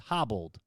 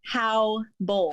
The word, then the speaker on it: Haubold: It's Haubold. No, it's how bold. How bold? Like, how bold are you? Do you want me to answer that question? No, that's how you pronounce it. How bold. I feel like I'm like, what's up, how bold? Like, I don't know. No, just how. Like the word H-O-W.